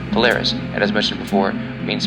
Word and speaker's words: Polaris: The brightest star of Ursa Minor is pronounced Polaris, and as mentioned before, means pole star.